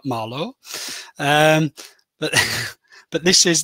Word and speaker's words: Malå: big orange marlo or for our friends in in sweden and scandinavia i should be pronouncing that marlo um but but this